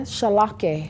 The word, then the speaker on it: Charlockeh: Charlockeh. Now spell that Charlockeh.